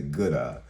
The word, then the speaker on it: GOODaaa: I said the GOODaaa. I know it's pronounced that way because I looked it up because I didn't want you guys laughing at me later.